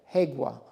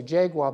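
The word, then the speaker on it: Jaega: we're called the hegua now it's spelled with a J and a lot of people say jaguar but you got to remember it's Spanish so they're phonetically writing what they're hearing and the J sound is a hagua sound and the Hague apparently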